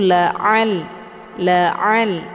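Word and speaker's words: لعلهم: a ya bacaannya lunak jadi jangan dibaca Laa Laa kalau dibaca laa itu bacaan yang salah karena Ain ini sudah keluar dari jalur karena posisi Ain ini bukan dari hidung maka yang benar itu dibacanya adalah keluar Ain ini dari tenggorokan bagian tengah yaitu laal laal sedikit ditekan dan pangkal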